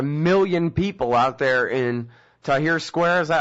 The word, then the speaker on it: Tahrir: Well, now, but you're saying, the million people out there in Tahrir Square, is that how it's pronounced?